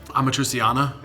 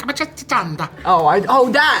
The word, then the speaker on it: amatriciana: Amatriciana. I'm not saying it right. An Italian person, you know how they talk. They'd be like, Amatriciana.